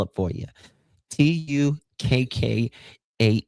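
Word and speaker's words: Tukkah: T U K K A H Tukka like oyster shucker, but Tukka.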